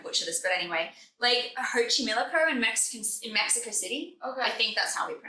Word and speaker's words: Xochimilco: I'm going to butcher this, but anyway, Lake Xochimilco in Mexican in Mexico City. Okay. that's how we pronounce it.